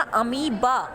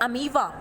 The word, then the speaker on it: अमीबा: The second one इज अमीबा and that the pronunciation is बच्चा अमीबा। Okay, it's नॉट अमीवा, इट्स अमीबा।